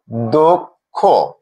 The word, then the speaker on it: অদক্ষ: অদক্ষ এই শব্দটিতে দ এর সাথে অকার রয়েছে এবং এর পরে ক্ষীয় রয়েছে, অর্থাৎ এই অকারটি ও এর মতো উচ্চারণ হবে। আমরা দেখছি, অদক্ষ।